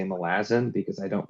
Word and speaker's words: Malazan: read uh I'm trying so hard to say Malazan because I don't pronounce it that way and I can't force